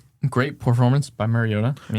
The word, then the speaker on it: Mariota: Great performance by Mariota. No, Mario Ta. Mario Ta. You're not saying it right. It's Mario Ta.